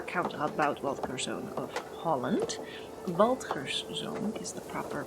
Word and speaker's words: Waldgerszoon: Waldgerszoon is the proper pronunciation of this.